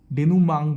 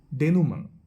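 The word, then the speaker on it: dénouement: আর finally হচ্ছে গিয়ে ডেনুমাং বলা হয় উচ্চারণটা, ডেনুমাং।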